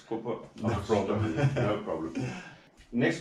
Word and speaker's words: Coppa Agostoni: I said Coppa Agostini, but it's Coppa Agostoni.